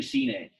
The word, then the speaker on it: sine: Officio, sin, more, Yeah, so it's actually Cine. But anyway, good pronunciation. Remember, there's no like silent syllables in Latin. Every syllable and letter basically we have to pronounce. You know, in English, there is a word called sine, like a sine wave in English. It's like a science term for sonic waves or something. But we don't have any silent E's in Latin.